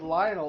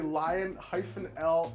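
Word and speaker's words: Lion El: Dude, for the longest, I thought it was Lionel, like Lionel Richie or something. But no, it's literally Lion-L Johnson.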